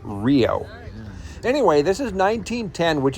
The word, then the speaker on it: REO: was named after, although they pronounce it R-E-O instead of just saying Rio.